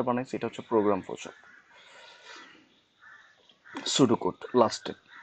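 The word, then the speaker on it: pseudo: সুডোকোড লাস্টে, সুডো বানানটা দেখেন, এখানে পিএস গ্রিক শব্দগুলো এইরকম, সামনে যদি পি থাকে পি এর উচ্চারণ হয় না, আর সুডো গ্রিক শব্দ, এর অর্থ হচ্ছে ছদ্মবেশ নকল।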